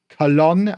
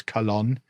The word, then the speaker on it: Colón: what we found with Colón, I think is the official way to say it, if you want to say it properly. I mean, I know nothing, but I think it's Colón.